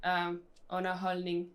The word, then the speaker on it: underholdning: We have 2 silent Ds. It sounds more like the D actually has this. It becomes like a second N. Yeah. And then the G at the very end is also. And there's another silent. Yeah. D. Holdning. So you don't pronounce the D in the holdning.